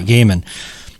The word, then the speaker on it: Gaiman: quote from is it is it Neil Gaiman or Gman how do you pronounce it gaim g okay gaimon he said he compared